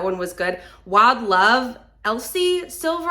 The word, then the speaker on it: Elsie: was good Wild Love Elsie silver I always want to call her Elise but it's spelled e- LS i e that one was a